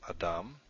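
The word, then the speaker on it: אדם: So a word like we had before, the example word I used, Adam, it's the last syllable, dam, that is accented.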